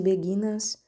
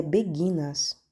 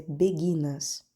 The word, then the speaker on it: beguinas: beguinas aliás caros ouvintes creio eu que anteriormente falei beguinas me perdoem por este erro é beguinas não sei por pronunciei errado enfim perdoe-me mais uma vez é beguinas a pronúncia correta chamavam-se beguinas as mulheres